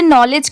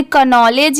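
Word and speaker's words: knowledge: Confusion होगा कि इसे नॉलेज क्यों पढ़ेंगे? क्योंकि यहां पर तो के दिया हुआ है स्टार्टिंग में। इसे कनॉलेज या केनॉलेज भी पढ़ सकते हैं। बट नहीं यहां पर के लेटर साइलेंट है।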